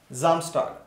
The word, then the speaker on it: Samstag: Yeah, Samstag. Samstag in this, this S is pronounced as Z sound because there is vowel after S.